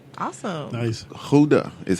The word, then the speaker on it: Gouda: Gouda is how you pronounce it.